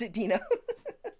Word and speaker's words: Deno: I will never pronounce Edina well what they mentioned is it's like dinosaurs and Dino is the dinosaur from the Flintstones yes this is this